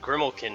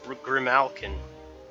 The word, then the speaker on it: Grimalkin: also that's how that that's how you pronounce it I just said grimille kin but Grimalkin whoops okay my dream